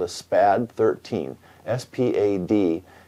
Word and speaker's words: SPAD: S-P-A-D is actually an acronym for the name of the company in French, but everybody pronounces it SPAD.